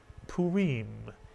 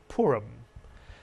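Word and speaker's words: פורים: with the letter P two vowels the shuruk and the hii therefore two syllables the first syllable would be pu mitsuya the second syllable re put the word together together you get puim in English we call it purum and Purim is the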